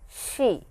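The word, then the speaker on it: し: It is not C but it is she similar to this English she pronunciation wise it is similar to sh h e in English.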